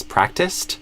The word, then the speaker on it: practiced: And then if it's the past tense, practiced, we add potentially a T after it. Practiced, tist. So the ending syllable is kind of a tist sound.